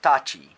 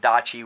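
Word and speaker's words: 立ち: So starting with 3 across stance is tachi, T-A-C-H-I, or you could put dachi with a D.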